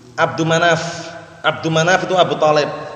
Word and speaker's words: Abdu Manaf: Abdul Manam. Yang bacanya jelas, kalau enggak jelas ini keliru. Siapa? Jangan kasih al. Abdu Manaf.